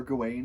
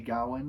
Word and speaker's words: Gawain: sir gain it pro it's genuinely referred to as Sir gain in the Green Knight but if every now and then I accidentally say Gowan it's because that translate or that pronunciation is just in my brain and we're going to